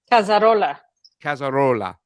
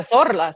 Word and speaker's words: Cazorla: Cazarola. See, it says Cazorla. No, Cazorla.